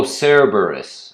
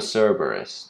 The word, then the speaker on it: Cerberus: with hercules or perseus what is this oh cerebrus it's called the cerberus the three-headed dog of greek mythology i mean